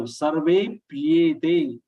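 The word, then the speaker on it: सर्वेऽप्येते: Sarvepyete. Most of the people, 99% people will be pronouncing it as Sarvepyete, double p. Sarvepyete, which is not the correct way.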